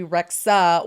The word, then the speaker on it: Rexha: I think it's like a silent H. Did you say Rexha?